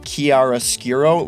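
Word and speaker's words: chiaroscuro: which has the dramatic I think it's pronounced Kiara Skuro lighting.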